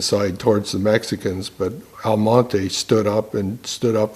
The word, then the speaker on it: Almonte: now Almonte was one Almonte is the proper pronunciation of the word with the Spanish equivalent of the ax I'll